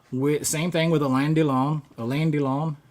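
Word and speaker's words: Alain Delon: Uh with same thing with a landlong, is that how you say his name? Elandon. I always want to call him Allan, but it's El Don.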